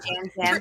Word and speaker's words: Yam Yam: Next up, we've got Yam Yam, who pronounces And it Jam Jam because he's a native Jam Spanish Jam.